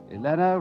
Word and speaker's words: Elena: you goodbye goodbye Robert funny Elena rhymes with Vienna but for me the